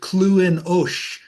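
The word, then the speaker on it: Clones: Uh he's known as the clonus cyclone or uh as the Irish pronounce it cluin.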